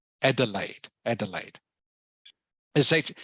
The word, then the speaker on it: Adelaide: the way everyone this this uh city is pronounced Adelaide Adelaide Adelaide is it it's actually a German word